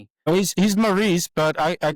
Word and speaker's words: Maurice: You've been telling me I've been pronouncing your name wrong all this time and you didn't correct me. Oh, he's he's Maurice, but I I called him.